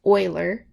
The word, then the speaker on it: Euler: so we'll have our boiler diagram and that is euler for the pronunciation there and we're told